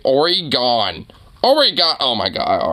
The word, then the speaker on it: Oregon: Oregon. Did he just mispronounce Oregon and say Oregon?